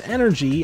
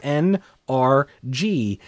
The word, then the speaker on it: NRG: Having another one of those fun names, no, I did not say his name is Energy, I said his name is NRG. Get it? Just like XLR8.